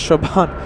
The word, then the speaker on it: Chauvin: Oh my goodness, Chauvin. Pronounced with a V.